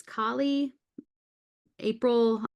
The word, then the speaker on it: Kali April: I always pronounce her name wrong, but it's Kali April.